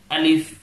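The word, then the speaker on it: ألف: করবেন প্রথমত হচ্ছে আলিফ আলিফ লম্বা করে হবে না আমরা অনেকে অনেক সময় আলিফ বলি আলিফ শেষে পর উচ্চারণ করি পর উচ্চারণা অনেকটা উচ্চারণ অর্থাৎ ফার উচ্চারণ আলিফ আলিফ দ্রুত তারপর বা তারপর তা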